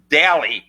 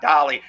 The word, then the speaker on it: Dalli: It's Daly, Daly, not Dolly.